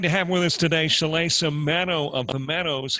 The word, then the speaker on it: Shalaysa: Did I pronounce that right, Shalaysa? You did pronounce it correctly.